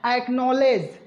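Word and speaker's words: acknowledge: मिल रहा है, इसलिए यहाँ पर हम लोग डी जी जब भी एक साथ आए तो डी का भी साउंड प्रोड्यूस नहीं करेंगे। तो हम लोग इस वर्ड को क्या पढ़ेंगे, एक्नॉलेज।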